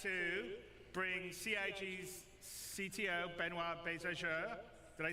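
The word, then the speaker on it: Benoît: And without me waffling on, I'd like to bring CIG's CTO, Benoit Bézageur.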